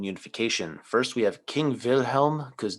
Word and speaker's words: Wilhelm: first we have king wilhelm because w's are pronounced like v's in german and v's are pronounced